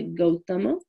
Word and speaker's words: Gautama: Nyaya is Indian philosophy written by Gautama. Growing up, I had an Indian friend named Gautama, but he pronounced his name Gautam.